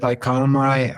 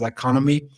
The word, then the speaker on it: iconomi: said I'm leaving the team at iconomi uh some pronounce it as economy uh we are basically